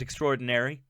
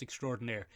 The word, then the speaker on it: extraordinaire: Okay, there's Tig Notaro, escape pilot extraordinary. Benjamin. Yes. It's pronounced extraordinaire.